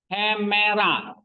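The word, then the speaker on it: ἡμέρα: Terus hemera. Nah, ini ya, lihat tuh ada H-nya nih semua.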